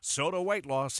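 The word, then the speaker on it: SOTA Weight Loss: It's spelled S-O-T-A. Think Tim and Amanda. Soda Weight Loss is state-of-the-art.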